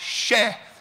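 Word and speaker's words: še: For example, the sign for barley, which I showed you before, in the Sumerian language is pronounced sheh, for spelt as it were, S-H-E-H.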